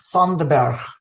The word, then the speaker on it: Vanderburgh: I'm going to have the joy of pronouncing it in Dutch. Reid Vanderburgh. We would say Vanderburgh. Reid Vanderburgh received his MA in counseling psychology from John F.